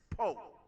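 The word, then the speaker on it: Powe: And it's spelled P-O-W-E, but it's Poe.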